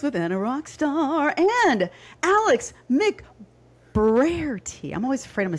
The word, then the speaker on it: McBrairty: Welcome back to Rock That Fitness with Anna Rockstar and Alex Mc Brarity. I'm always afraid I'm going to say her name wrong.